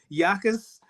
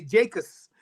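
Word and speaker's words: Jacas: the way you pronounce Yakas. Yeah. Yeah, because if you look at it and you don't know, you'll say Jacobs.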